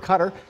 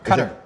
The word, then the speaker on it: Qatar: the locals would say Qatar. But it is an American English pronunciation to say Qatar.